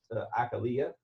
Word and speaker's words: Achillea: I found out recently that actually it is pronounced a Kalia which I kind of think I like that